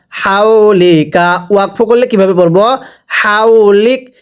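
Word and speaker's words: حولك: হাউলিক। এটাকে যদি হাউলিক পড়ি পড়া শুদ্ধ হবে না, হাটা উচ্চারণের সময় গলার মাঝখান থেকে বাতাস বের করে হাউলিক পড়তে হবে।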